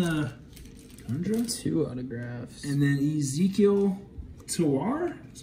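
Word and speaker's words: Ezequiel Tovar: go i've got some cases here real quick blue autograph then uh two autographs and then ezekiel tawar that's how you say it that blue is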